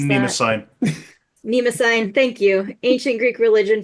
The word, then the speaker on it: Mnemosyne: And so this is ancient the waters of I'm not gonna be able to pronounce Nima that. sign. Mnemosyne, thank you.